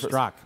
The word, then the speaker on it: Straka: It's spelled Straka, but it's Straka. Is that correct? You nailed it.